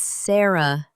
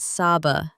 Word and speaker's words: Sarah: It's Sarah, not Saba.